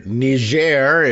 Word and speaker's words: Niger: The top of course being its near neighbor nger if you prefer the franophone type uh pronunciation.